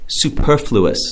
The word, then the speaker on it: superfluous: It's commonly mispronounced, so you got to make sure you pronounce it right. Okay. Superfluous.